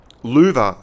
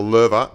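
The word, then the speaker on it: Löwe: The Louver, or the Lerva, as I'm told it's pronounced, has 1860 DPM.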